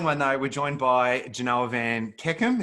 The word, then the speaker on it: Janoah Van Kekem: We're joined by Janoah Van Kekem. Is that how you pronounce that, mate? Mate, you've done all right.